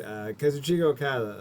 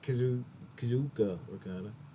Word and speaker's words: Kazuchika Okada: Speaking of Godspeed, Kazuchika Okada, or Kazuka Okada. I think we've been mispronouncing it. I see an I. Kazuchika. That's how I'm pronouncing it.